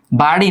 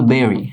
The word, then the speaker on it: bury: গুপ্তধন is varied, দেখো ব্যারি, BURY, ব্যারি, বাড়ি না, এটার উচ্চারণ কিন্তু বেরি, হ্যাঁ, বেরি, বেরি উচ্চারণ, হ্যাঁ, বেরি।